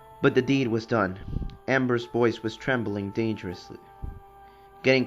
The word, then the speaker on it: Ambre: said that that Amber is pronounced without the E. So I'm going to assume that that that it's pronounced Amber.